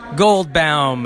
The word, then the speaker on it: Goldbaum: how do you say your last name gold gold Bal it's often mispronounced okay Mr Gold so tell me